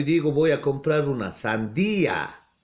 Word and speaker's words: sandía: a comprar una sandia, no digo una sandia, sino una sandía, está separado. Si ven que las dos vocales, la I y la A, que se encuentran ahí, no se pronuncian en la misma sílaba, sino se pronuncian separados, ¿ya?